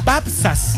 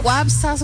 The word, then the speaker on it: Wapsas: La W se pronuncia como B corta. Babsas. Babsas. Babsas. Sí, por favor. Nos costó llevo decirlo. Toda mi vida ¿ya? Que me dicen Wapsas, sí.